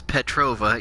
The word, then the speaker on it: Petrova: And I had the crazy idea, you know, why don't I just one-up Miss Petrova, yes, that's actually how you pronounce her name, Miss Petrova from Fallout 3, by bringing the Nuka-Cola tour to you.